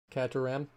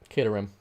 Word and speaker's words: Caterham: sketchy not bad though not bad at all cataram maybe i'm terrible pronouncing things you guys are gonna learn this locus is kate rm caterham built using four parts oh interesting i didn't